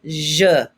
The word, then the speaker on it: je: Please répétez je. You hear that E, that alphabet E where you're getting punched in the stomach?